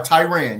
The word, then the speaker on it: Tiran: Tyran, am I saying it correctly? Good evening. Good evening. Hey, how you doing? You are Tyran.